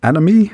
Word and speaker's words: Anomie: So the album is called Anomie. Is that the right way to say it? That is well done.